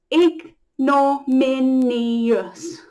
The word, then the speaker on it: ignominious: It's a 5-syllable word. It's a lot to remember with sounds. Ignominious. The I is the end of the min, and then you have us, this O-U-S sound, us, ignominious.